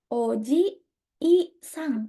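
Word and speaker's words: おじいさん: Untuk orang lain, Oji, I, Sang, panjang. Kalau kakek, pelafalannya lebih panjang. Oji, Sang. Tapi kalau paman, nggak ada I-nya.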